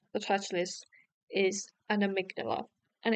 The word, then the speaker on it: amygdala: It's actually amygdala.